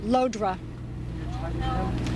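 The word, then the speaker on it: Llodra: My name is spelled L-L-O-D-R-A, pronounced Lodra.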